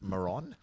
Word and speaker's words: Maron: I think it's pronounced Maron. More like moron.